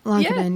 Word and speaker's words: Lankinen: Lankinen, yeah. It's even Okay. on the Blackhawks website under their pronunciation things.